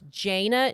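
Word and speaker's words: Jayna: what it's fine Jana I say some sometimes say Jana but it's Jana J a y n a Jana Jana Jana Murray a 30-year-old uh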